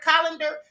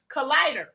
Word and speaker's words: collider: video about cern and i kept calling the word colander that's cause i had a calendar on my mind the word is collider and someone in the chat said queen is pronounced collider i don't have any problem